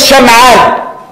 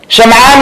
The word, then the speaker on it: Sham'an: Some of them say his name was Sham'an. Sham'an like Salman.